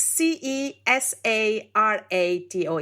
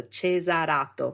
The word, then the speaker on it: Cesarato: Okay, so it's Cesarato. It's like Caesar with an A to a V beginning, so Cesarato.